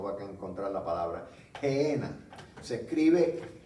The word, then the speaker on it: Gehenna: en español, sino va a encontrar la palabra Gehenna. Se escribe G de gato, E-H-E-N-A.